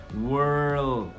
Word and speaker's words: world: mundo, não quero palavra, eu quero com L. Então, a língua tá lá em cima e você joga ela pra frente. World.